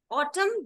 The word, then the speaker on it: autumn: starting being sounding okay the Autumn does not have n uh in the word Autumn and is silent but when you say autumnal then n becomes loud okay tandem doesn't have